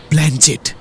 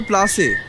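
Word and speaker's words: planchette: কেবলা এসে পড়েছে বলল ভুল হলো ওর উচ্চারণ হবে প্লাসে থাম থাম বেশি ওস্তাদী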